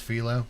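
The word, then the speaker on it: phyllo: It's pronounced philo.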